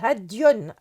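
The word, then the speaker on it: هَدْي: On s'aperçoit que le terme Hadi, qui peut aussi être prononcé Hadion au cas sujet, désigne uniquement les chameaux, Ibil.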